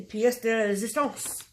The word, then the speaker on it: pièce de résistance: So, and then the pièce de résistance.